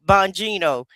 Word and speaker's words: Bongino: Bongino.